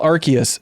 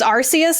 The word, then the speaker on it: Arceus: it's pronounced oh yeah i always thought it was going with the hard c yeah i like it is arceus like i think it